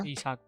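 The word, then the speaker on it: Isak: captaincy could be a nice punty punt on Isaac. How do you pronounce it? Yeah, Isaac.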